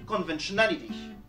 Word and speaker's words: conventionality: Ici, la syllabe qui le précède, c'est VEN. Mais vu qu'on a déjà un accent primaire sur O, on ne peut pas en placer un nouveau sur VEN. Du coup, VEN va prendre un accent secondaire. On a donc un accent secondaire sur la deuxième syllabe et un accent primaire sur la quatrième syllabe dans conventionality.